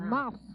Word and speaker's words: mouth: 그러니까 Close 마우스가 아니라 Close mouth. mouth예요. 이 마우스가 mouth. 그래서 마우까지밖에 발음 안 할 때가 되게 많아요.